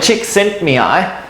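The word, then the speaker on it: Csikszentmihalyi: so there's a psychologist by the name of chick sent me i uh and that is hey pronounce it yes who is a very who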